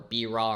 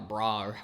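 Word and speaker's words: BRAW: playing around with their Blackmagic raw or be raw or bra whatever you know however people are pronouncing it I like to call it be raw but how you know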